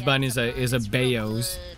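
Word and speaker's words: 包: is a is a baoz it's called it's pronounced bao by the way for all all the non-chinese out here one time i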